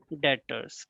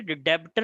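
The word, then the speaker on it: debtors: डेटर्स। कई बच्चे ना इसको गलत पढ़ लेते हैं, तो ध्यान रखिएगा, बी इसमें साइलेंट है बेटा। ठीक है, डेब्टर नहीं पढ़ना है आपको, डेटर्स पढ़ना है।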